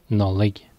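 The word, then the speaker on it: Nollaig: de premier choix qui va nous donner la prononciation galloise de Noël. Nadolig. Et cela donnera Nadelec. en cornique et Nolig.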